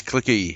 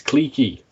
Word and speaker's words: cliquey: Why can nobody pronounce the word clique? It's not clicky, it's cliquey.